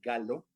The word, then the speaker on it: Gallo: menos por 1988 el doctor Robert galo gallo en español porque se escribe con doble l empieza a haber pacientes